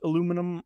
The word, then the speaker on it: aluminum: And so what I'm going to look for is just a suitable, this one, brushed aluminum or aluminium, depending on your pronunciation, and drag that out onto the sides.